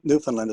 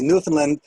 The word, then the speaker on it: Newfoundland: them in uh in newfoundland as well notice i'm pronouncing the land you look at if you look on your screen it should say newfoundland it rhymes with understand so it's newfoundland not